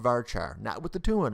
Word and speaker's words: VARCHAR: now let's talk about varchar' or ver care depending on your dialect I say varchar' but some people say ver care that's fine rhymes with Care Bear right so here what